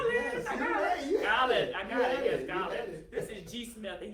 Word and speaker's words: Gaulien: you need to just tell me how to pronounce it. Gaulien, yes, I got it, yes, Gaulien.